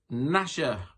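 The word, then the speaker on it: Gnasher: dennis the menace's dog it was nasher don't worry about spelling it was a silent g in case you were wondering number three um in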